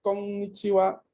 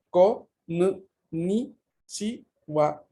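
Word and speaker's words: こんにちは: la sílaba chi y la sílaba ha, que en este contexto se lee wa.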